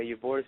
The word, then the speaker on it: Ybor: Sorry if I get the name wrong. Ybor, something like that. Ybor, yeah, Ybor City, Florida.